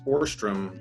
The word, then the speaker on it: Ohrstrom: My name is pronounced in English Ohrstrom, but if you were to do it officially, it would be Ohrstrom.